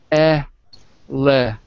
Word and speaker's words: elephant: So the first is the letter E, but it's alone, so it's pronounced eh, like pet.